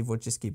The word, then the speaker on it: Wojcicki: I hope that is actually how you say it, because if you were to read that in Polish, it does say Wojcicki, but I think, you